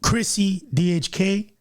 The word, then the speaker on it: Chrissy DHK: Your boy Chrissy DHK, right?